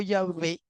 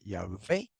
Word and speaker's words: Yahvé: Pero Yahweh o Yahvé, ambas pronunciaciones son correctas, Yahvé o Yahweh, es un nombre propio.